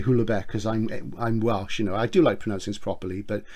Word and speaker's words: Houellebecq: This is Submission by Michael, is it Houellebecq? I say Houellebecq because I'm Welsh, you know, I do like pronouncing this properly, but I'm Houellebecq, Houellebecq.